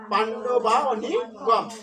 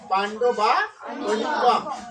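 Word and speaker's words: পাণ্ডবানীকম্: তাহলে এখানে আমরা পাণ্ডব যোগ অনিকম উচ্চারণ করবো। তাহলে কি উচ্চারণ হবে পাণ্ডবা অনিকম, পাণ্ডবা অনিকম।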